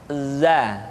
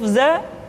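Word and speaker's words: ذ: selanjutnya huruf Z Hai diucapkan dengan cara ujung lidah kita berada di antara dua gigi seri bagian atas dan bagian bawah zat Hai menyerupai dengan pengucapan huruf z di dalam huruf latin tetapi ingat huruf dza bersifat Al Jabbar artinya ketika kita mengucapkan huruf dza suara kita mengalir akan tetapi nafas tidak boleh mengalir contoh yang salah seperti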